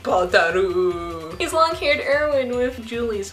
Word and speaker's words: Balder: I say Balder and I spell it Balder, but it's like Badaru.